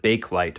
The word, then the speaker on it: Bakelite: Some people, how do you pronounce bakeite? People, my neighbor said bake light, but I've always said balite.